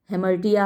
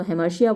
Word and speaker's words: hamartia: हेमर्टिया है, हालांकि कुछ लोग उसको हेमर्शिया बोलते हैं, HAMARTIA। तो ये जो हेमर्शिया या हेमर्टिया, वैसे तो हेमर्टिया ज़्यादा अच्छा प्रोनाउंसिएशन है उसका।